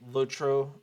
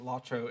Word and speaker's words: LOTRO: this household we are very firmly in the lotro uh is is correct camp and so whenever we hear someone pronounce it lacho it just it's not wrong but it's a